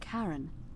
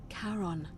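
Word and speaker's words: Charon: it's just as you described it only your pronunciation is a little off the name you heard wasn't karen it was c-h-a-r-o-n as in caron the ferryman of the dead carol who in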